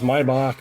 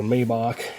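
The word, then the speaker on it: Maibock: So they called it, pronounced Maybach or Maybach, as some people would say.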